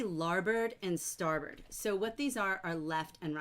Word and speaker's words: starboard: But in the book, and even though it looks like it says larboard and starboard, it's pronounced bird. So larboard, starboard, and they're the left and right sides of a ship.